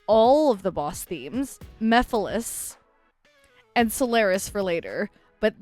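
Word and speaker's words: Mephiles: And for those who pointed out that I had been saying Mephilis's name incorrectly, I still feel like I'm saying it wrong. Instead of Meiles, it's Mephilis.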